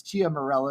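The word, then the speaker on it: Ciaramella: There was this fake whistleblower who was colluding already with Adam Schiff and his name's Eric CIA Mela. It's Chia Mela is pronounced, but it's CIA Mela.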